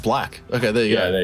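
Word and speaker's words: 6LACK: I've heard of JID and I've heard of Six Lack or Black. I don't know how to fucking say that. I don't know. I think it's I'm gonna click on it. And, pronounced Black.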